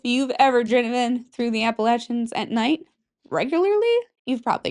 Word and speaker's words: Appalachians: If you've ever driven through the Appalachins at night, if you think I'm pronouncing it wrong, go ahead. The Appalachins, I know it's correct.